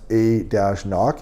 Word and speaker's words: anCnoc: i'm saying that right they say it's they say pronounce a dash knock and knock give you